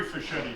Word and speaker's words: Fischetti: two of the three fischetti brothers uh spelled with a seed just like fisher only as a machete